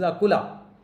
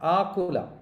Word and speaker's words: Akula: This is Akula, not Akula. Be careful when you pronounce the Sanskrit.